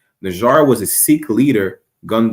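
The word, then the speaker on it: Nijjar: So on September 19, 2023, progressive conservative leader Pierre Poilievre accidentally mispronounced Hardeep Singh Najjar's last name. Najjar was a Sikh leader gunned down in Surrey, British Columbia earlier this summer.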